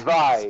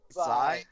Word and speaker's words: Zwei: Action RPG Zwei. way. Zwei. Zwei.